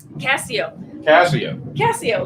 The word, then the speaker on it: Cascio: Casio, like your watch. So the C is silent.